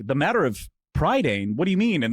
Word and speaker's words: Prydain: I found out today, Britain in Welsh is Prydain, and Prydain, or Prydain, if you're from Welsh and saying it correctly, is also the name